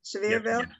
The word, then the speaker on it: Sevierville: He's worked for the Sevierville Police, did I pronounce that right? Sevierville?